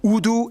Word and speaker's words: Urdu: used as lingua francas, Urdu and English. Yeah, that's right, it's pronounced Urdu, not Urdu.